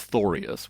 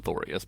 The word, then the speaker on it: Thorius: So they're like Thorius aureus and Thorius arboreus. Those Thorius kinds of like Gregorius.